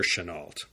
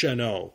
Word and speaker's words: Chennault: story of General Claire Chennault. I think the correct way to pronounce it was Chennault, but all the newsreels and history documentaries call him Chennault.